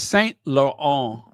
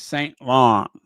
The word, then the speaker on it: Saint Laurent: It's very French. Saint Laurent. Laurent. You got it? Because you aren't ever going to get me to say it like an American. I got to say it like a French.